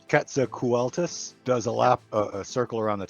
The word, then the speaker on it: Quetzalcoatlus: Shelly, I can never pronounce this, but my son says it's Quetzalcoatlus, does a circle around the town to make